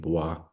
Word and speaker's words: Bwa: they have um the the baah people bwa and that's how you pronounce the name boah and they wear these